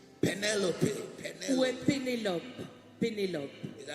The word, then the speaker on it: Pénélope: Pénélope.